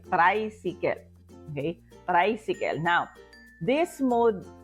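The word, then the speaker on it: traysikel: you will write down the word so tricycle is spelled as t r a y s i k e l so you say tricycle okay tricycle now this mod of of transportation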